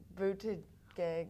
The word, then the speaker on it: Buttigieg: Buttigieg. It's boot, edge, edge. So boot, like a shoe, and edge, edge.